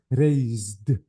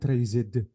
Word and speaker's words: raised: Tred raise Ali please be careful between s and Z yeah it's voiceless but z z is voiced be careful okay so this is ra ah this is z so raise raised not raed delete the sound okay